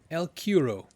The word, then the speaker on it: El Cuero: El Cuero, from Chile, specifically Mapuche, folklore. I believe correctly pronounced El Cuer, run, or rather swim, under a good number of names.